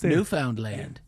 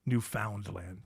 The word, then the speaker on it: Newfoundland: Those Vikings, they invaded Newfoundland. Yes. I'm glad you pronounced it all. Newfoundland.